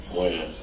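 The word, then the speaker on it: Wynn: Win. Win? Or Wen? Win. Win. W-E-N or W-I-N? W-Y-N-N. W-Y-N-N.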